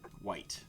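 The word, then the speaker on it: wight: and the and the white i believe it's pronounced white you guys could correct me if i'm wrong w-i-g-h-t is there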